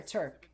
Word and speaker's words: Trk: is it trk or turk now Johnny is calling trk again sometimes I call him trk but I've always heard it's pronounced Turk especially on like the